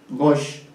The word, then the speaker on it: gauche: Porque ustedes, quienes hablan francés, saben que en francés, gauche, ¿no? Se pronuncia así, aunque se escribe gauche, ¿no?